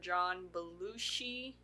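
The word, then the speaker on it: John Belushi: during this time Acro met comedian and writer John balushi I say that right yes okay who had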